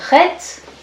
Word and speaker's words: Chet: Alors, la lettre Chet se prononce R. Il n'y a pas de lettre équivalente en français.